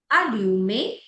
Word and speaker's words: allumer: जो ईआर की प्रोनाउंसिएशन आती है वो ए जाती है.